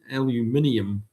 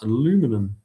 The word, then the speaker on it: aluminium: Back in Kiwi land and Australia land, we say aluminium, not aluminum.